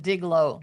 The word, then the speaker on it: Diglo: A good source to take a look at is a company called Diglow. Digi G- Lo. Oh, I think they call it Diglow, excuse me, but it's still spelled the same.